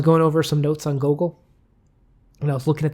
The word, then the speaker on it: Gogol: I was going over some notes on Gogol, and I was looking at the translator, the PVR. What's his name? Gogol. It's not Google.